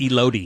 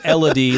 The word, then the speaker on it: Elodie: I said Elodie. Elodie. But it's Elodie like melody.